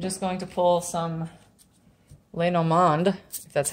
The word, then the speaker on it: Lenormand: got okay I'm just going to pull some Leno mond that's how you pronounce it cards pull two of these they're